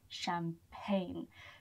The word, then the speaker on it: champagne: Champagne. Don't be fooled by the G in there. The G is not pronounced. So it's called champagne.